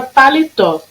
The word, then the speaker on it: paletó: Na palavra paletó. Paletó. Qual durou mais? O tó. Então, o tó é minha sílaba tônica.